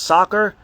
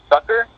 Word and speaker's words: sucker: Is it pronounced soccer punch? S? So it's pronounced sucker, and it's based off the idea, the founder, Don Croft, based it off the idea that sucker is to nourish.